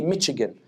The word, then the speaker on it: Michigan: upset when I say Michigan I'm like why do you want to be so French and pronounce CH the way the French do do you know what